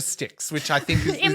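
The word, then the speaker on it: Styx: Well, the river sticks, which I think is in my mind it's just with sticks. Sticks is spelled s t yx, I think.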